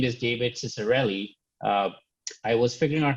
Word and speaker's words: Ciccarelli: me pronounce it by suggesting you say s instead of the c so it makes it very clear uh welcome david how's